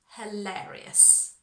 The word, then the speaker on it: hilarious: Hilarious.